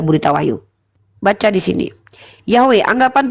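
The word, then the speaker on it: Yahweh: sebagai pencipta manusia pertama salah satu rekonstruksi dari tetagramaton yodhevave adalah yahwe pengucapan ini dikenal luas karena sebagian besar menganggap bahwa pengucapan ini adalah pengucapan asli namun tidak ada bukti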